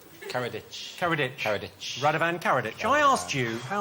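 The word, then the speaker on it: Karadžić: I asked you how former Serbian leader Radovan Karadzic was evaded capture for 12 years. Oh, yes. I've pronounced his name differently every time I've said it so far. Radovan Karadzic. Karadzic.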